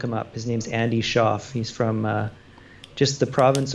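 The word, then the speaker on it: Shauf: His name's Andy Schaaf.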